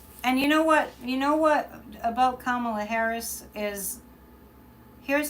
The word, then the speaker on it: Kamala: And you know what about Kamala Harris is, here's how you say it. And I love this. It's calm. It sounds like C-A-L-M. Kamala. Bring calm with Kamala, right?